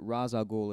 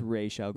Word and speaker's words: Ra's al Ghul: No, I don't know what they're gonna call it, but I know that Ra's al Ghul is the incorrect pronunciation.